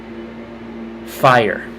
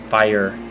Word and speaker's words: fire: Fire. Always 2 syllables. Fire.